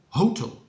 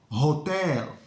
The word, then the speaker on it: hotel: of this word is Hotel Hotel we need a nice round O in the first syllable and then uh the stress is on the second slip Hotel okay if